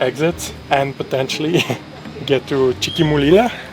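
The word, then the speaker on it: Chiquimulilla: That gives us like a window to exit and potentially get to Chiquimulila. Chiquimula? Chiquimulila. You can only go there if you can pronounce it.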